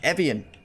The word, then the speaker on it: Evian: pronouncing this course wrong and Rich it was Evian that's how the announcers pronounce it but I I pronounce a lot